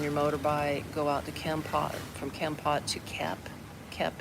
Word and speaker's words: Kampot: It's called Kempot. I'll spell it Kampot.